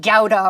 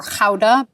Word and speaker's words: Gouda: Technically, you would pronounce it gauda or kha.